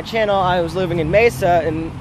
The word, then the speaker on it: Mesa: I was living in Mesa so and I'm excited right now it's pronounced miss Mesa everyone everyone's like Meza and like oh my